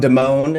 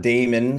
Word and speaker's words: DeMone: My name is DeMone, and not Damon, as it looks to be spelled, and sometimes I do pronounce it Damon because it is easier phonetically.